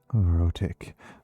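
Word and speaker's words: rhotic: R H O T I C. Rotic. Rotic is whether or not you actually pronounce the Rs. And nonrotic accents are ones where you drop it.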